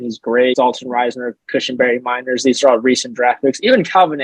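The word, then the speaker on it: Meinerz: Is it Mainers, Andrew? Is that how you say his name? Miners, okay.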